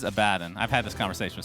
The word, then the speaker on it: Abaddon: The correct pronunciation is Abaddon.